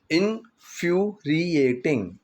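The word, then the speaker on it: infuriating: Actually एक word है यहाँ पर, ठीक है, वर्ड है इन्फ्यूरिएटिंग। इन्फ्यूरिएटिंग, इसकी प्रोनाउंसिएशन को थोड़ा सा ध्यान से समझ लेना।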